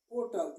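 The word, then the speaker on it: hotel: अब हम कह दें ये लिखा है आपको ओटल, इसको हम ओटल पढ़ते हैं और ये साइलेंट हो जाता है, तो यहाँ पर किसका प्रयोग करेंगे?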